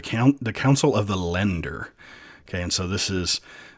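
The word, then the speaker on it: Länder: mock pronounce this is put an e after that vowel so like it's like lender it's not lander it's lender anyway um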